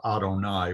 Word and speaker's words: Adonai: yave but the vowels for adonai it's usually pronounced as adonai which is a substitute instead of saying the sacred name of god we say adonai in respect for him that was certainly an